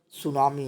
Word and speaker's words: tsunami: सुनामी यानी T silent होता है।